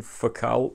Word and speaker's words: Focal: These, of course, are the Focal, French company, so French pronunciation, Focal Bathys.